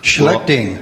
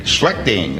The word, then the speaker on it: Schlichting: speech contest by Ernie and the student grant Schlichting. I hope I pronounced that correctly. Schlichting. Schlichting, okay.